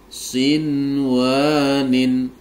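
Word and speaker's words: صنوان: huruf wau disertai dengung tapi karena ini nun sukun dan wunya dalam satu kata maka kaidah bacaan tajwidnya yang betul adalah dibaca izhar wajib jadi cara membacanya menjadi Sin wanin Sin wanin wa ghairu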